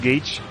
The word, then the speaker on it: gauge: damage to me this is a stupid english word by the way i think it's called it's pronounced gage um when fighting large